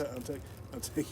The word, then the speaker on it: Anteiku: Anteiku. Nah, there's a lot of people that don't really know how to say that, pronounce that right.